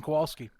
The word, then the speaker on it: Kowalski: Yep, Kowalski. Hey, I got it right. Jim pronounced the name correctly.